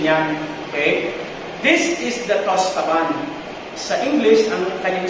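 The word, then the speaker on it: tastevin: This is the tostaban. Sa English, ang kanyang spelling is taste vin. Sa French, if you spell them or if you pronounce them, it's tostaban. Toast. Hindi taste. Tostaban. Yung vin is van.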